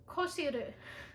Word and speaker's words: Coxir: Oh, okay, you would never guess how to pronounce this name. So Coxir is Koshiru.